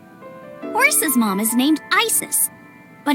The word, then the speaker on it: Isis: versus Mama's named Isis but in ancient Egyptian it's pronounced closer to ISA or ASA hmm how do I